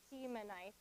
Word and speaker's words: Temanite: So here's the pronunciation. So we have Eliphaz, the Temanite, Bildad, the Shuhite, Zophar, the Naamathite.